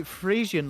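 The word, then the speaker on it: Frisian: Isn't Joe um Fian? Yeah, Joe's Fian. Yeah, Joe's Fian as well. Uh and it's actually Friezian like the actual Fian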